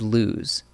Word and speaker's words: lose: Lose, with 1 O, means to misplace or to fail to win. Don't lose your ticket. It rhymes with news.